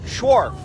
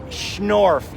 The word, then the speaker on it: Schnorf: i'm talking to laura short right now sure schwarf how do you spell it schnorf you've had to do that for idiots like